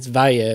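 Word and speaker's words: Valle: Minas de Val, and it's Vaya is how you say that. I know how to pronounce that word. I just say Val because I'm a lazy Australian.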